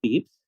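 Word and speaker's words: Pepys: it's actually pronounced yes it's written as p-e-p-y-s but but it's pronounced as peeps so you're referring to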